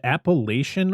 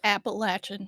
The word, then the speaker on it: Appalachian: Appalachian or Appalachin? It's Appalachin.